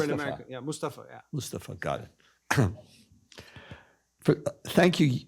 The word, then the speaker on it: Mustafa: Um How do you want us to pronunciate it cuz no one pronounces my name right. Mustafa is good? Mustafa or is it Mustafa? It's Second one, Mustafa.